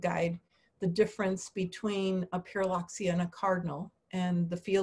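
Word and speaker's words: Pyrrhuloxia: And I'll say Pyraloxia, and I get them to say it, and so they learn something. And then I show them in the field guide the difference between a Pyraloxia and a cardinal, and the field guide marks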